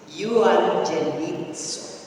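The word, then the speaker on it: εὐαγγελίζω: Evangelism is ay galing sa salitang Hebreo o Griego, nang ibig sabihin ay eugenizo. Ang pronunciation po niyan is euangelizo.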